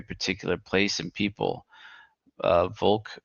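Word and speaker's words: Volk: uh Vulk or I think it's pronounced pronounced folk in German it's V is F I suppose but whatever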